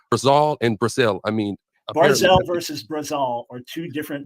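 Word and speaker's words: ברזל: Well, the Hebrew is barzal. Anyone who knows Hebrew knows it's barzal. It's not barzal. It's barzal. Okay, so let's say I mispronounced it.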